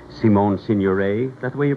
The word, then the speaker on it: Signoret: exciting leading ladies for your pictures, like Simone Signoret. Is that the way you pronounce it? Mm-hmm. Signoret.